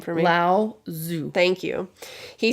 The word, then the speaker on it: Lao Tzu: The ancient Chinese philosopher, can you pronounce his name for me? Lao Tzu.